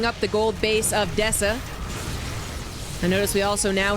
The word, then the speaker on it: Deca: It's Deca. Thank you. Legend. Being a legend, coming in and finally correcting my pronunciation.